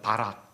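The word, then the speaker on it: ברך: 이렇게 단어가 쓰여 있는데 이걸 바이라고 읽어요 바락 복을 주다는 뜻이에요 바락 이게 히브리 말만이 아니라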